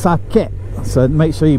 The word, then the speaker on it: sake: other drinks like uh what everyone in the west would call saki it's actually pronounced sake so make sure you